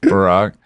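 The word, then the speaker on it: Burak: driver's name was Barack, like B U R A K, but pronounced Barack.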